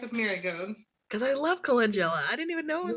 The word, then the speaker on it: calendula: And I can never pronounce it right. Candula. Calendula.